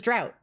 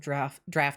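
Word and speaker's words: draught: So that's why I assumed it was drought. I assumed that it was just like a lost pronunciation, and it would have been originally pronounced like drach or something like that. The British pronunciation is very light on the F sound of draft, which makes it understandable that it could evolve into a drought pronunciation.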